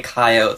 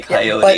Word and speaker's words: coyote: Some people say coyote, some people say coyote.